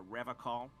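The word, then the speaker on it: Revachol: to stay strong for rev call hell yeah brother he pronounces Revol with a hard K unlike other people serious question time this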